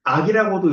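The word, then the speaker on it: 惡: 것은 꺼리다라고 하는 거예요.이 옥자 옥자가 악칼 악자랑 같은 한자를 쓰는데 한자 음으로는 악이라고도 읽고 오라고도 읽어요. 악이라고 읽을 때에는 악할 악이고 오라고 읽을 때에는 싫어할 오, 꺼릴 오예요. 혐오한다라고 얘기할 때 이제이 오자를 쓰거든요.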